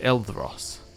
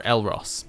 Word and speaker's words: Elros: be a scion of eldross all right or elros i should say i think it added in an extra syllable a new house for